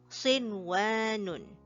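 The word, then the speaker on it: صِنْوَانٌ: Notice that we say sin and then wa. We do not merge them, or we do not make a nasal sound out of it. Okay, it is just a direct pronunciation.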